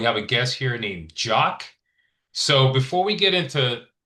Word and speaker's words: Jacques: S is silent. And it's Jock.